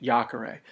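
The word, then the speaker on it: iacere: so it's yak ara to throw is a short e third conjugation Jacare just don't confuse the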